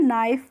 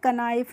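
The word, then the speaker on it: knife: क्या पढ़ेंगे नाइफ पढ़ेंगे य भी देखिए के के बाद एन का यूज हुआ है तो यहां पर हमने के का प्रोनाउंस नहीं किया है इसीलिए हमने इसको क्या पढ़ा है नाइफ पढ़ा है क नाइफ नहीं पढा है और नाइफ का मतलब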